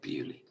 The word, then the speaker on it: Beaulieu: It should be pronounced Beaulieu, but it's called Bewley.